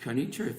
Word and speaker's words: Quneitra: little work Syrian town called Kony Turk that's how you pronounce it but that town